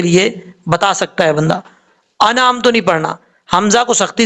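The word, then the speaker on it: أَنْعَمْتَ: لفظ ہے انعمتو. اب لوگ پڑھتے ہوئے کیا کرتے ہیں؟ انعمتو. انعمتو پڑھیں گے تو غلط ہو جائے گا.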